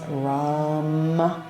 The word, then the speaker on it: Ram: The one-syllable Sanskrit mantra is Ram, R-A-M, Ram.